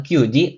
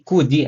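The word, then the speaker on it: 九時: Jadi bukan QG tapi Kuji ya teman-teman.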